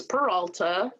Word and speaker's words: Peralta: is peralta and if you can't say it in spanish it's peralta but i'm from a